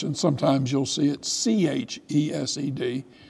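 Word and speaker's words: חסד: in English, and sometimes you'll see it C-H-E-S-E-D. The C-H is a way of saying it's a guttural. But you don't say ch.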